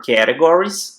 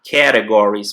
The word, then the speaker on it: categories: 5 major categories, 5 principais categorias. Outra palavra que muita gente erra a pronúncia, tá? Categories. Muita gente fala categories, tá errado. Categories. Categories. É no cat. Lembra do gato? Categories.